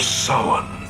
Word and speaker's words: Samhain: It's because people nowadays don't respect the classic traditions of Halloween, or as he correctly pronounces it, The Festival of Samhain.